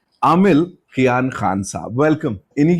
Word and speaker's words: Aamil: को बोल देता हूँ नाम क्या है, तो आमिल, just so that they get the pronunciation right.